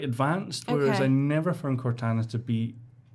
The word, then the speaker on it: Cortana: So one other thing that I did read about was they've got rid of, is it Cortana? Is that how you pronounce the name?